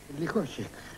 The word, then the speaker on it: Lukosic: You tell me, is it Lukosic or Lukosic? Lukosic. Lukosic.